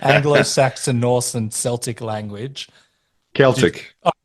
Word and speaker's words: Celtic: Celtic. Celtic. Sorry, yeah. That's all right. Celtic is a football team, but they did used to pronounce it the other way.